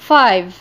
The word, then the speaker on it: five: الإي في آخر الكلمة ما تنطقتش ولكن أثرت في I اللي هو الحرف المتحرك اللي في النص خلته يتنطق باسمه. Five.